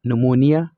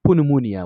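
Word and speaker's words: pneumonia: بل کلمه نمونیا، نمونیا بعضې زده کوونکي دې ته پونمونیا وایي، اصلا دا غلط وایي، نمونیا ویل کیږي. دا نمونیا پی توری مه تلفظ کوئ دلته.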